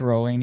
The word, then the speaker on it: Rowling: I think I pronounced it wrong. Rowling. Whatever. J.K. I think Rowling. it's rolling. Yeah.